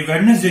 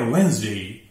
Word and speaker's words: Wednesday: Number 3, WEDNESDAY, ये वेडनेसडे नहीं है, ये है वेंसडे, वेंसडे, डी साइलेंट है।